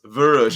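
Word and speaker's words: Vörös: is it pronounced like Voros, like something like yeah, that? the S is a SH sound, so it's Voros.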